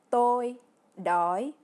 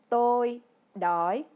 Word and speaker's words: tôi đói: Ensuite, si vous avez envie de manger, pour dire j'ai faim, en vietnamien, c'est tôi đói, qui se prononce tôi đói.